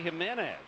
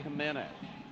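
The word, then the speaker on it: Jiménez: Jose Jimenez of St. Louis on June the 25th against the Arizona Diamondbacks. Jose Jimenez. JJ nor HH. J of course pronounced as an H in in espanol.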